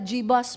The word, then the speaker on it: Jebus: Nung una, ang tawag ko doon, Jebus. Yung pala, Jebus pala ang pronunciation doon. Jebus.